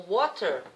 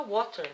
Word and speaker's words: water: Quando você fala assim, I have water, o water, para o britânico é water, né? Para o americano water, eles nem pronunciam o T quase.